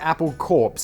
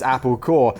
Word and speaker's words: Apple Corps: corporations maybe but like it's supposed to be you know it's spelt like corpse like uh uh you know like the military court but it's so it's apple core uh co-owned by the